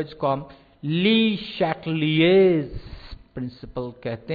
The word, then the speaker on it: Le Chatelier: सूत्र का जिसको हम ली शैटलिएज प्रिंसिपल कहते हैं, ली शैटलिएज, ये फ्रेंच नाम है, और ये हमारे यहाँ आमतौर पर उसको ली चैटलियर कहा जाता है, आप स्पेलिंग चेक कर लीजिएगा।